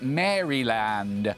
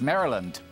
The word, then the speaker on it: Maryland: in the united states because i called it maryland which is what how it would be pronounced in in they all looked at me and said it's maryland it's maryland what are you talking about maryland